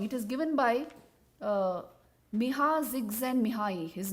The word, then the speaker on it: Csikszentmihalyi: Now, this concept of flow, as you may be knowing, it is given by Miha Csikszentmihalyi.